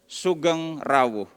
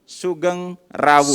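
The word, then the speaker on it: Sugeng rawuh: So let's say, or let's pronounce it together, Sugeng Rawu. 1, 2, 3. Let's pronounce it together. Sugeng Rawu.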